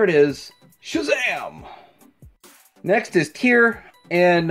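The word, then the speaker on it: Tyr: Next is Tear, and I guess it's pronounced tear, like a teardrop, like a Johnny Depp teardrop.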